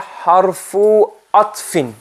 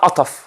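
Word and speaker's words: حرف عطف: The conjunction is called harfu atfin. What's it called? Harfu atfin. Not ataf. Harfu atf. So people pronounce it ataf. It's harfu atfin.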